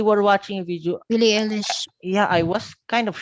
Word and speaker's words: Eilish: I will just say it like Billie Ish. Billie Ish is Mm-hmm. how you spell it. And then they were watching a video. Billie Eilish.